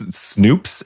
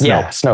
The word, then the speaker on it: Snopes: I'm familiar with like I think it's Snoops. Is that how it's pronounced or is it Snoop? It's Snopes.